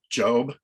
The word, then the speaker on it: Gob: Yeah, he played Job, but spelled with a G. It looked like Gob, and he was a magician.